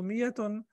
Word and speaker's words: مئة: This ألف is extra ألف. It is written because it's the Arabic language. It's written over here, but it is not pronounced.